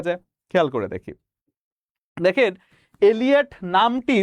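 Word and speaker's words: Eliot: দেখেন, এলিয়ট নামটি উচ্চারণগত দিক থেকে ভাবতে গেলে একটু এলিট এলিট ভাব লাগে, তাই না? নামটির উচ্চারণটা একটু এলিট না? টি.এস. এলিয়ট নামটা হচ্ছে কি একটু এলিট।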